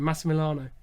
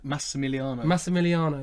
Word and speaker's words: Massimiliano: Massimiliano. Massimiliano, there you go.